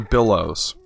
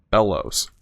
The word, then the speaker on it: bellows: for sure, and another billows. I don't know how much the regular billows actually is. I don't think it's bill, I think it's B-E-L. Yeah, B-E-L. Bellows. I always pronounce that wrong.